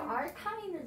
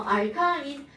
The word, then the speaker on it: 알카인: 그리고 발음으로는 아인 이렇게 합니다. 아인. 그럼 얘는 아인 아인. 지우개요? 자, 얘네들은 다음엔 더 알카인. 세게 때려야겠다. 자, 지우개로 알카인. 알케인 말고 알카인을 들어. 알카인.